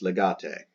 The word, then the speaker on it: legate: Now here we have ambassador, that's legatus E masculine, so it does change to the letter E, pronounced legate.